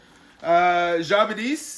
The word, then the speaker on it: Jabadis: Jabadis is a character we see later on in the story. Jabadis. So the emphasis is usually on the last syllable there, dis.